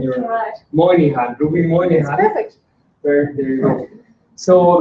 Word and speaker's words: Moynihan: Ruby, I always have problems pronouncing your Moynihan. Ruby Moynihan.